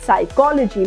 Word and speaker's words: psychology: begins with PS and we are not saying Psy or psychology yes we are saying psyche psychology letter P we are keeping these letters silent pseudonym right salm psychiatrist